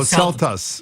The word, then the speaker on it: celtuce: Celtuce is got to rhyme with lettuce, so Celtuce.